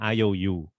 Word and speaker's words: IOU: get it back anymore an iou is uh as an iou right but it's spelled i o and u the three letters um it's